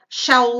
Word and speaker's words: shall: pedindo só pena sua opinião então eu falo shell lite ok terror percebem aqui também a pronúncia tapioca a gente não fala esse l